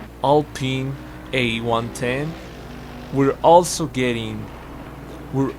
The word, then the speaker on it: Alpine: mercedes amg genera g55 alpine or i think it's pronounced all pin all pin a110 we're also getting